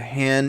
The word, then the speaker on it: Han: He said, since you are wondering if you were right, the Han in my name is pronounced like Han in Han Solo.